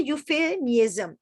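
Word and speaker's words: euphemism: आगे कहता है यूफेमिज्म। यूफेमिज्म क्या है? यहाँ पर ई हमारा साइलेंट रहेगा, यू से बात शुरू कर रहा है।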